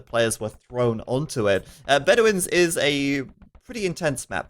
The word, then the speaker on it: Bedouins: Hannah's sighing at me because I never know how to pronounce the name. How do you say it? Bedouins. It's Bedouins!